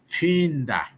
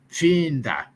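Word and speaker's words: Pfinda: Like my grandmother's name was Finda. Finda. So Right. her name is spelled with P F I N D A. Finda. So it's PFI. Fi. We pronounce it Fi.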